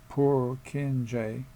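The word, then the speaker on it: Purkinje: Prokeni neurons pronounced poor kinj are where the two trains meet.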